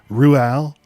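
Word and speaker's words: Roald: starts off with him saying how you actually pronounce it it's Ruel Ru he's who thought of the pronouncing feature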